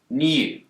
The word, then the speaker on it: new: In the word new, Brits will tend to pronounce a y sound here, new.